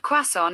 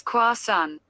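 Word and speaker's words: croissant: according to spoon University the correct French pronunciation of quason is Quan this is because T's at the end of French words are usually silent he did he did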